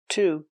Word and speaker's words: to: Same preposition, to. He had an allergic reaction to peanuts. He had an allergic reaction to peanuts. Remember, to is pronounced t because it's not stressed in the sentence.